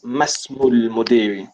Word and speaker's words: ما اسم المدير: Just remember, the alif on ism is Hamzat al-Wasl, so we pronounce it as Masmul Mudiri.